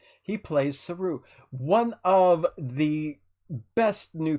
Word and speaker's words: Saru: it's a Japanese word because it looks like a Japanese word and it means monkey in Japanese, and he's not a monkey, so I want to make sure I don't say it with Japanese pronunciation.